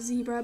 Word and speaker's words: zebra: And I also use that zebra rug, which if you're in America, you probably pronounce it zebra, but I prefer to pronounce it zebra because, well, I'm British and that's what British people do.